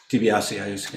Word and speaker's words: DiBiasio: Jamie Hand has been working with David DiBiasio. Is that right? Am I getting his? DiBiasio. I get the emphasis on the wrong syllable.